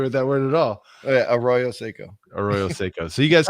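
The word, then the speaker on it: Arroyo Seco: this is the uh uh let's see the aeroseco is that how you say that nope our our how do you say it arroyo seiko tiny homes village in highland park california it's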